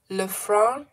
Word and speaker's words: Lefranc: We don't pronounce the C of Lefranc. Oh, so it's Lefranc Bourgeois.